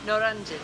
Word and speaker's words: Noryangjin: How do you pronounce it? Noryangjin? Noryangjin.